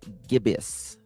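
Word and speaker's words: gibbous: Edgar's nickname other nickname he is a waning gibus is it gibbus gibas how do you pronounce it gibas hold on how do you pronounce that I need to know how to pronounce that correctly Gibb us Gibb us just Gib us we got a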